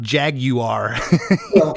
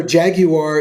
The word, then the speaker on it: Jaguar: Um, you know, Jaguar is the British the way the British pronounce what the car that we call Jaguar. I didn't know that. Yes. Okay. Yes. The British the the true British pronunciation for that is Jaguar.